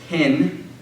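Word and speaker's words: ἕν: the smooth breathing Mark indicates that the word lacks this initial initial H sound thus hin means one and is pronounced H and in means in pronounced in okay yes out to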